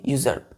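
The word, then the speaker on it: usurp: यूजर क्या है बच्चों यूजर क्या पढ़ेंगे इसको प्रोनाउंस क्या करेंगे यू जर्प यू जर्प यूजर देखिए स्पेलिंग यू एस यू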